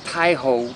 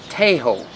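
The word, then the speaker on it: Tây Hồ: so to start with the neighborhood is not pronounced piehole but hey ho and it means Westlake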